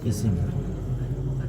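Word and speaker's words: اسم: Jenis ismun ya. Langsung aja saya katakan jenis ismun. Saya biasakan begitu. Ejaan bahasa Arabnya. Jenis ismun. Kalau orang Indonesia biasa mengatakan isim gitu. Tapi saya ubah sekarang jenis ismun.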